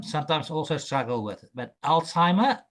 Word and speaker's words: Alzheimer: also struggle with But Alzheimer is the correct pronunciation of that is it's an illness where you tend to forget your memory is not um very good.